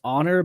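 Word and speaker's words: Xonor: Actually, if you look up um it's pronounced honor, but it's spelled X O N O R.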